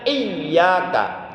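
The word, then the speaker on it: إِيَّاكَ: Oleh karena huruf ya menggunakan tasdid, maka membacanya mesti ditekan, ditaskilkan. Jadi membacanya iyaka iyak iyaka.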